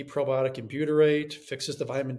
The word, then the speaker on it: butyrate: My functional doctor had me take butyrate or how do you say it?